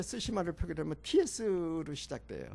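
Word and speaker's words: Tsushima: 그 영어로 표기를 할 때 쓰시마를 표기하면 TS로 시작돼요. 네, 네. TS. 네. 그러면 일본 발음은 쓰시마.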